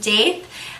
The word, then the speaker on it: daith: I've heard it pronounced Daith and I've heard it pronounced Daith.